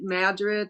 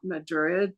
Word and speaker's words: Madrid: That's how they pronounce it, Madrid, not Madrid.